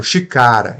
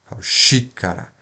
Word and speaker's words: xícara: sílaba forte carro e a proparoxitona a tonicidade na antepenúltima sílaba então xicara eu não falo chicara e nem chicará xícara Então não é a última não é a penúltima é antepenúltima a sílaba forte o que que acontece